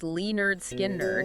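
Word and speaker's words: Lynyrd Skynyrd: Also, Tears for Fears the Hurting, Russia's Signals, Leonard Skyn Nerds pronounced Lee Nerd Skin Nerd.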